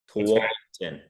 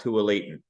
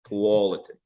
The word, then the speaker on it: Tualatin: Tualatin. It's not Tualatin. Tualatin.